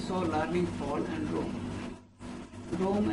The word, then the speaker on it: Rome: learning fall and rome rome actually is pronounced here like room to cry with two